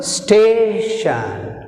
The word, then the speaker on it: station: Station, station, station. Rising sound, falling sound. Here we have stress mark in second syllable. Shan first syllable, stay second syllable.